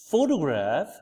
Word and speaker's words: photograph: out over here so the first example which is photograph over here pH graph over here the stress is given at the first syllable which is f so